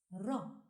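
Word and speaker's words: راء: The 10th letter is pronounced Ra and is written from right to left on the line with a going down semi-curved shape. Ra like in R. Ra, R.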